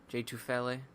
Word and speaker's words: Tufele: 98, and then, I already forgot how to pronounce his name, but what did it say? J Tufele? Tufele. J So it's Tufele.